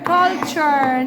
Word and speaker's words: culture: قولوا معايا: فود، food, nature, and culture. وقلنا يا حبايب قلبي الاربع حروف، ركز معايا، اللي هم TURE اللي في اخر الكلمه بتتنطق اتشر، بتتنطق TURE بتتنطق اتشر. قول معايا: nature, culture, nature.